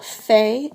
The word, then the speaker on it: fait: And the forms of faire are je fais, tu fais, il or elle fait. It's pronounced the same, but it ends with a T.